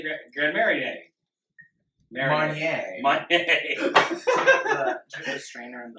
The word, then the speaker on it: Marnier: Marnier. Marnier. The strainer in the You know, you don't need to pronounce it, you just need to drink it.